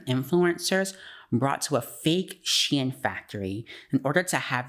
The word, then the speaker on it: SHEIN: brought to a fake Shin Factory in order to have these influencers put out unknowing a propaganda due to their desperation of wanting to be included and seen Shin pronounced Xi'an flew a group of